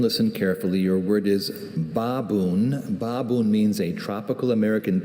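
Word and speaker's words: baboen: Baboon. Are there any alternate pronunciations?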